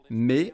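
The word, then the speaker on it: μή: C'est le mot « mais », M-E, prononcé « mais », et cela signifie simplement « non ».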